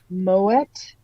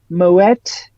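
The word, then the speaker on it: Moët: so there you go uh Moet no I wouldn't have said it that way moette sha dong never heard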